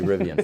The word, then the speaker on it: Rivian: call it rivian so I need to say rivian from now on okay you know there were